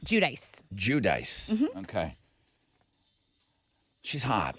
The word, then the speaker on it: Giudice: Giudice. Giudice. Okay. She's hot, right? And she's Italian, so some people say Giudice.